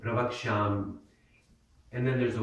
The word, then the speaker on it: pravakshyam: Now, you notice that Y at the end, pravakshyam, and then there's a Y, and the natural tendency, if you're an English speaker, is to read it pravakshyami.